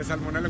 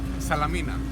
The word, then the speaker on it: Salamina: Yeah, salmonella with the chicken. How do you really pronounce it? Yeah, Salamina. Salamina. I forgot it. Yeah. We're moving, eh? Careful, eh? Not Salmonella.